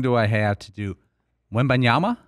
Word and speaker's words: Wembanyama: I have to do when banyama when banyama does that sound right yeah w-e-m-b-a-n-y-a-m-a the French wamba